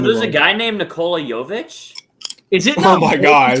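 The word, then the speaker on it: Nikola Jović: Nikola Jovic. Jovic, bro. You said it right the first time.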